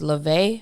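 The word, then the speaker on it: Levesque: forgot his first name his last name is levay but it's spelled l-e-v-e-s-q-u-e something like that um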